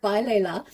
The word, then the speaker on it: balela: And the word balela, the word balela, I'll put the pronunciation up on the screen.